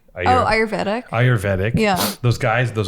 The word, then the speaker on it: ayurvedic: the IRS how do you say that word ayuretic oh ayurvedic ayurvedic yeah those guys those ayurvedic dudes with